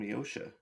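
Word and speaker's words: Josha: Why do they call him Yosha? Because the J is a soft. The J is silent.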